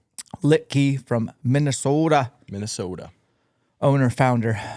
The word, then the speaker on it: Litke: Litkkey. Litkey from Minnesota.